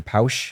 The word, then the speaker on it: Pausch: It's by a guy named Randy Pausch or Pausch is how you pronounce his last name.